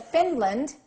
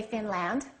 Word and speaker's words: Finland: one is reduced okay if you said Finland you're correct the a is reduced Finland don't say Finland okay one more how